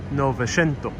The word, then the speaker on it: Novecento: The CE is pronounced sh, Novecento.